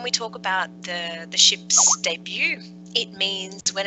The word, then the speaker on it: debut: taken from another language because you'll see that we don't pronounce the T in it yes it's French but